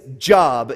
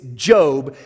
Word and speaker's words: Job: known as job now it's spelled the same as job if you're looking for it in your bible but it's job and so i would